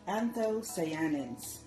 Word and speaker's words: anthocyanins: call, and I don't know if I can pronounce this right, but they call it anthocyanins.